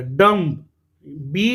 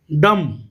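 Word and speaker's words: dumb: डम, बी जो है यहाँ पर नहीं पढ़ा जाता और इसको हम क्या पढ़ते हैं? डम। डम्ब नहीं पढ़ना बेटा, इसको क्या पढ़ना है?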